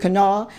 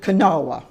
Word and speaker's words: Kanawha: She pronounces it Kanawha, and I pronounce it Kanawha.